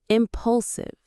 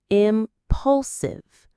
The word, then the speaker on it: impulsive: This kind of behavior is our eighth word, impulsive. Let's say this one together. I pulive. It's three parts. Impulsive. The stress is on that middle syllable. Pull. Impulsive.